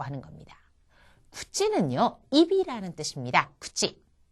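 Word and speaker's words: くち: 구찌. 이때의 치 발음은 첫음이 아니잖아요. 그렇기 때문에 구찌에 가깝게 발음이 나겠죠.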